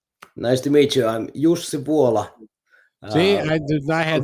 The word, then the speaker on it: Jussi Vuola: your name sir nice to meet you i'm jose paula see i i had not a prayer yeah